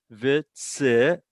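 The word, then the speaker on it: וְצִוָּנוּ: It's not pronounced u. It's a vav, and it has its own vowel. Vitzivanu, and it's accented on the vanu.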